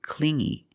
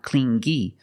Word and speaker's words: clingy: because he was too clingy you hear the sound only the nasal sound here no good not clingy but clingy clingy he was too